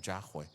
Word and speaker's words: Yahweh: Esa es la pronunciación correcta que ellos tenían, Yahweh, en lugar de Jehová o Yahvé, como lo castellanizamos.